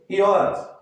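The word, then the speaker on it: י: Se escreve assim, mas se lê Iod.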